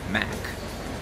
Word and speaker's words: Mac: Em português a gente fala Mac. Algumas pessoas falam Mac, Mac, enfim. Mas a pronúncia em inglês é Mac.